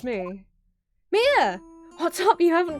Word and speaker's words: Mia: I guess this is Mia that makes sense given it's Japanese sorry Chief is called Mia not Maya I pronounced it wrong the other girls called